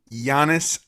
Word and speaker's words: Giannis: greek freak how do you say his name giannis there we go there we go you get